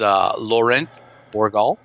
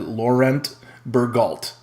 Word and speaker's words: Laurent Bourgal: So his name is Laurent Bourgal, and that's about as good as it gets, buddy. Me as an American, I probably would have said Laurent Bourgault. Hard T's.